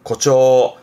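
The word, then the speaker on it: 誇張: 앞 글자가 과자라 자랑할 과자, 과시하는 과자라서 과장하는, 발음은 고초, 고초.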